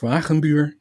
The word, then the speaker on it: Wagenbuur: Well, my name is Venure. That's how you pronounce it.